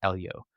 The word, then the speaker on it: Eliud: And instead of Eliud, it uses the word Eljo, or really it would be pronounced Elio.